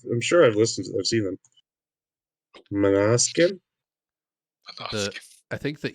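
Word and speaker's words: Måneskin: Like if I read it, it's main skin, but I think it's pronounced like Manaskin or something like that.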